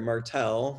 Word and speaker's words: Martel: And the presenter will be Michael Martel, who is, or I'm sorry, Martel, there's a little bit of an accent there on the second syllable.